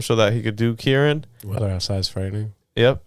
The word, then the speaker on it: Kirin: Yeah, it's Kirin. Okay. Yeah, you don't have to look that up. I'll put my life on it. Okay, it's Kirin. Yeah, cool.